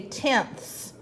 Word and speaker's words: tenths: Remember, we say it like differently than tens. We say tenths.